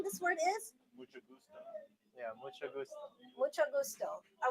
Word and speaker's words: mucho gusto: Mucho gusto.